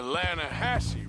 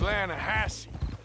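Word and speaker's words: Lannahechee: caught some beautiful steelhead trout you mean the lah Hatchi River no no no no no no the the lah hatche it runs right near here yeah but it's pronounced lahash why is everything in English said differently than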